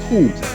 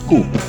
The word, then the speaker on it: coup: I would have pronounced coup, but in French, the letters OUP at the end of a word is pronounced coup, not coup.